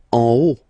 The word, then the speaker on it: en haut: En haut. En haut. Okay, final T not pronounced, and then this H as previously, you don't pronounce it, so this is haut. En haut.